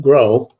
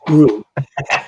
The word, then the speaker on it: Gro: Mark, but it's not Gro, it's Gru. Thank you for correcting me. So just think about the anti-hero in the movies with the minions, right? His name was Gru.